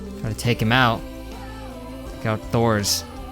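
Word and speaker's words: Thors: to take him out Thor's or tours as they pronounce it obviously but I don't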